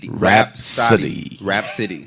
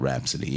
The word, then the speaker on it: Rapsody: How you say it? Rapsody? Rapsody. Yeah. Rapsody. Yeah, Rapsody. Not with the H, but rap. Right. Exactly. Rapsody.